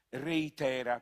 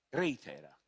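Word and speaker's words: ReiThera: il nome l'hanno battezzato reitera con l'accento sulla era reitera visto però che sarà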